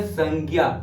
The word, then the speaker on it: संज्ञा: बताया संज्ञा ज्ञ ज्ञ ज्ञ का उच्चारण ज प्लस य से मिलकर होना है ज प्लस